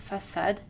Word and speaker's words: façade: La cédille permet de conserver la lettre C avec un son S, même avant les voyelles A, O et U. Normalement, C est prononcé Q avant ces trois voyelles.